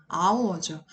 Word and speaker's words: hour: 안 된다는 거 왜요 h는 소리가 나지 않는 묵음입니다 묵음 묵음이 뭐예요 사일런트 사운드라고 해서 스펠링은 존재하는데 발음이 되지 않는 경우 그래서이 단어는 첫 발음이 아 소리부터납니다 그래서 하기 때문에 얘는 어가